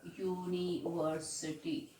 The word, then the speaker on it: university: is teaching in a university so children university the sound is starting with a woven view but the pronunciation is you need you me so that's why the sound is starting with y so that's why we